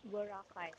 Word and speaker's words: Boracay: Am I pronouncing that right? Boracay? Boracay.